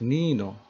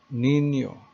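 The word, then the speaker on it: niño: with a name so without the spanish in you you pronounce this as nino but the most above the letter n you pronounce the word nino so just like in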